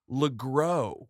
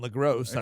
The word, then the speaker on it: LeGros: You pronounce his name LeGros. Oh. Yeah, like, sure. oh, That's what he silent. wants. Yeah. I mean, it sounds better than LaGrosse.